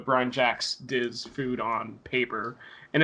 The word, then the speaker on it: Jacques: I'm pronouncing that right, Jacques. Jakes. Brian Jakes did to food in